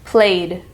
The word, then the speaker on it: played: up we have play which is the D sound because the root word ends in y play When the root word ends in y it will be the D sound at the end of the Ed played played next up we